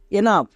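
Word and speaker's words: enough: ইউ এর জন্য আ জি এইচ এর জন্য ফোর টা একই রকম ভাবে আর ও ইউ জি এইচ রাফ ই এন ও ইউ জি এইচ এনাফ তাহলে ও ইউ এর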